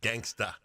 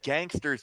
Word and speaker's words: Gangsta: This guy on Jeopardy lost $3,200 because he mispronounced Coolio's 1995 song "Gangsta's Paradise." Gangsta. Judge, he said "Gangster's Paradise." Judges ruled that he mispronounced it.